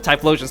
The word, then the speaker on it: Typhlosion: If I don't get rid of it, the Typhlosion's gonna come out.